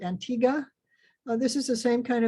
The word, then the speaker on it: Antigua: our next one uh they pronounce it antigua this is the same